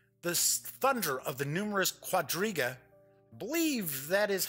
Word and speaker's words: quadriga: places and soon the thunder of the numerous quadriga believe that is how it's pronounced quad riga poor horse-drawn chariot racing at